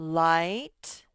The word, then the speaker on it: light: that y spelled i light that igh and then this spells i that's right that gh is silent it just makes the isaiah's name light okay next is night i